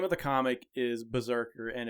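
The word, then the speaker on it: BRZRKR: But the name of the comic is Berserker, and it's spelled B-R-Z-R-K-R, all caps, and it's made by Boom Studios.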